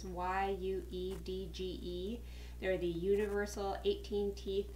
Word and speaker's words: YUEDGE: I bought the huge I believe it's how it's pronounced is why you dge they're the Universal 18